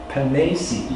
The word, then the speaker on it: Pennesi: Because my name is Hennesi, but he pronounces it Pennesi.